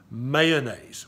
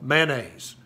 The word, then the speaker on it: mayonnaise: here in the south we call mayonnaise it's two syllables man a z' you ever heard that it's not mayonnaise there's no ode in Tennessee it's just mayonnaise okay so if you're